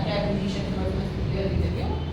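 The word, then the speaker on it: preposition: तो यहाँ पे इसका जो मैंने प्रोनाउंसिएशन है वो भी यहाँ लिखा है प्रेपोजिशन, ये शन बोला जाता है, ये एस एच है, यहाँ पर ये एन है, शन, प्रेपोजिशन।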